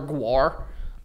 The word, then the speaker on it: Gwar: I've never heard of Gwar. Google it. How do you spell it? How do you say it? G-W-A-R, babe. Gwar.